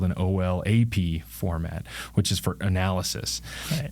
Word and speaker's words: OLAP: online transaction processing um olap usually pronounces olap online analysis processing I